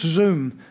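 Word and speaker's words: שׂוּם: It's a Hebrew word, which is quite a strong word, which means zoom. It's pronounced zoom. S-O-O-M. In Hebrew, it's S-U-W-M.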